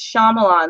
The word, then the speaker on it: Shyamalan: of his movies Jason is pronounced Shyamalan like the way that it's spelled Shyamalan it sounds just like it's pronounced I like to pronounce